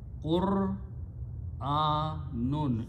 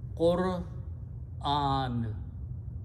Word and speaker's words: Qur'an: If you stop, you pronounce Qur'an. Almost all Pakistanis, Indians pronounce this wrong. They say Quran, Quran, Quran. It is not Quran. Qur'an. You should learn to pronounce this word correctly.